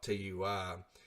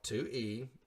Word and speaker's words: Tui: I call it TUI, and it's called 2E.